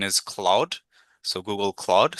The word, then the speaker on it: Claude: So Google Claude. So you'll pronounce it like CLAWDE.